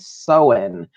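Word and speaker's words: Samhain: a celtic tradition called so in which is exactly not how it's spelled so it's not like you know because the m is silent right you know you'd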